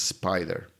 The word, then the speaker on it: SPDR: SPDR, which is pronounced Spider, managed by State Street Global Advisors, home of some of the oldest and most traded ETFs in the world.